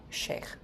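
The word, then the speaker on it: shaikh: So the people in Saratian who can offer initiations and guide reads are called sheh.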